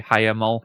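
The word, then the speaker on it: Hiemal: and another attack uh that is by the way how you say highl it's three syllables uh and it means wintry um the highl strike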